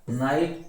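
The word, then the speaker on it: knight: के शांत हो गया, नाइट के शांत है, नाइफ के शांत है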